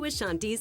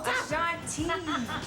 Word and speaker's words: Ashanti: No detail was overlooked, right down to Ashanti's toes.